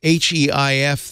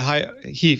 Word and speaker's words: HEIF: And another thing I found out just today on iOS today, the HEIF, the high efficiency image format that the iPhone